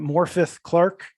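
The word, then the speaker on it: Morfydd Clark: around here and then I had to practice my Welsh a little bit to be able to pronounce uh this name correctly but morpheth Clark as Galadriel did really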